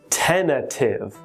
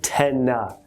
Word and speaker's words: tentative: is pronounced like this tentative ten a tif tentative and if you notice that second t is not pronounced so we don't say